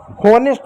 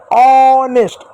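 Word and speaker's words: honest: जैसे एच में इसको होनेस्ट नहीं ऑनेस्ट औ पढ़ते हैं। एच साइलेंट हो गया।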